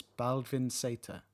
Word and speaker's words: Baldvin Z: And in Icelandic, Z is pronounced as Seta. So it's Baldvin Seta.